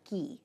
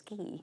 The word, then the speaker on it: ghee: to be talking about ghee it's spelled ghe e e and if you don't know what it is we're going to learn hello and hello hi so it rhymes with Glee yes right and I